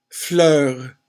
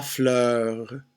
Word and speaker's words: fleur: Fleur is just one syllable. La fleur.